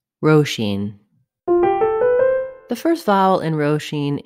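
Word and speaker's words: Róisín: presents how to pronounce roshin the first vowel in roshin is o roshine the second vowel sound in roshin is the e vowel roshin letter s is pronounced as sh roshine the stress falls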